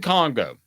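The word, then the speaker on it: Kongbo: The other one was Jonathan Congo. Was it? Am I pronouncing it? Jonathan Congo. Yeah, Jonathan Congo.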